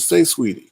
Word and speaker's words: Saweetie: but you say it's sweetie no they said say sweetie say sweetie jay sweetie say sweetie what's up